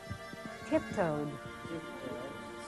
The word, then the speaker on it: tiptoed: What's the difference there? Tiptoed. Stretched. This is a D and this is a T. A very interesting aspect of English pronunciation in the past tense.